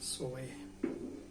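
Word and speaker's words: ζωή: La palabra para vida eterna en griego se pronuncia zoe.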